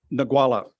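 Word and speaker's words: Ngualla: And I'm going to let you pronounce the name of the start. Go on, just once for me. Nagwala.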